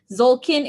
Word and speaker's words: Tzolkin: Okay, Zolkin is spelled Tzolkin.